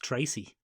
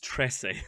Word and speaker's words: Trese: anime division pen yes i think it's pronounced tracy no it's not it's tressy i promise you it's dressing uh and